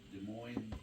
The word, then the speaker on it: Des Moines: Des Moines, like Des Moines, Iowa, but it's spelled the French way.